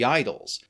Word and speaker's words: Idylls: Of his surviving output, we have a collection of 30 poems known as the Idylls, or Idylls depending on your pronunciation, and a group of 22 epigrams that are attributed to him as well.